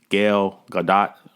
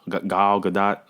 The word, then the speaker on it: Gal Gadot: screen she delivers um i won't say her name wrong gail gadot gal gadot excuse me from saying it wrong she kills